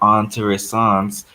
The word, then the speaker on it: intéressantes: Remember, if you have a TES, you have to pronounce the T. Oh. So it would be des histoires intéressantes mais incomprises.